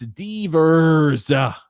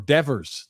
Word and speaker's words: Devers: up Adriel said and another name incorrectly pronounced it's diverse okay or Devers that's right I always mispronounce this I just let you